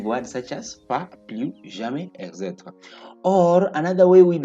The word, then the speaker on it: jamais: Then we have the third one, which is jamais. Jamais. Don't say jamais. I've said we don't pronounce the last S. It appears at the end of the French word.